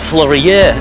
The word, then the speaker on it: Fleurieu: i'm here in the florio peninsula although some people pronounce it florida peninsula and there's a lot